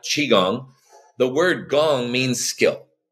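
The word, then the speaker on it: qigong: like you know folks the hardest part about this practice is saying the name chiong because it's spelled Qi which you know is a translation from Chinese but it actually is spelled more like Chi chi gong you know interesting the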